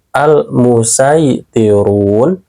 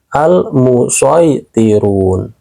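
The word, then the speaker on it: الْمُصَيْطِرُونَ: Terus apabila sin kecilnya berada di bawah huruf shad, kalian boleh membacanya pakai huruf sin atau huruf shad. Contohnya ada di surat At-Tur ayat 35. Boleh memakai sin, al-musaytirun, juga boleh memakai shad, al-musaytirun.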